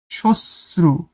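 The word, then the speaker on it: শ্মশ্রু: আছে একদম একুরেট তারপরে সশ্রু সশ্রুতে মফালাটা উচ্চারিত হবে না তাইতো শব্দাবলির উচ্চারণ লেখো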